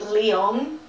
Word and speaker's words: Leon: name's Leon he well let me say his name Leon because I want to say layoffs because like that's I was saying it but le Oh N he's travelling in a